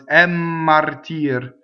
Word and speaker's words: martir: So double M, same as double N, right? So I have to go for double M. Inphonation. Mmartire, right?